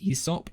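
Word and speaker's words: Aesop: yeah but i think it's pronounced esop even though it's spelled asop shut up the movie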